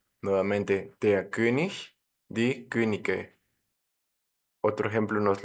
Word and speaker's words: König: ejemplo en la palabra König, el rey. Nos queda como plural die Könige, los reyes. Observemos también aquí la pronunciación, como la IG al final suena como ich, como en la palabra yo, pero cuando le agregamos